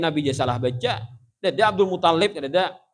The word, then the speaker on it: Abdul Muttalib: Ada Abdul Muttalib, ada Abdul Muttalib. Nah, tasdidnya itu di ta, bukan di lam.